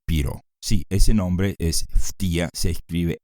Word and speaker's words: Ftia: la segunda de piro Sí ese nombre es ftia se escribe F t i a el padre de